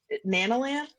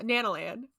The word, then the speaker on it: Nanalan: then found a little not nanan yeah Nan land is how you say if you found a